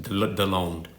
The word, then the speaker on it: Deslondes: It's spelled as like Deslondes, but it's pronounced just deloned.